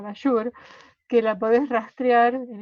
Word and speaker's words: Bajour: Acá en nuestro país hay una autora que es Cecilia Bashur, que se escribe Bajour, ¿no? Con J, Bashur, que la podés rastrear